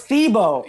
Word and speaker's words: Thiebaud: Oh, it's Thiebaud. Yeah. I don't know because I don't talk to him over the phone.